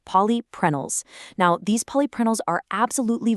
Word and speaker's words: polyprenols: It contains 90% phytogenetic polyprenols, pronounced polyprenols.